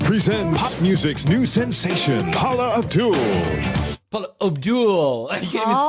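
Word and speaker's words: Paula Abdul: the party line but he even say her name right he said Paul Abdul the world's New Sensation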